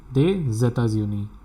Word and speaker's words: des États-Unis: S will get connected with this E and the pronunciation is des États-Unis.